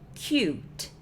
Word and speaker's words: cute: Olha a diferença. Cut, cute. Cut, cute. A diferença dessas palavras é absurda porque é só um E, mas o tanto